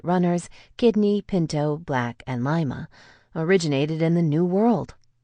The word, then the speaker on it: Lima: For example, pronounce lima with a Spanish accent, Lima, and you'll recognize that the lima bean was named after Lima, the capital of Peru, its homeland.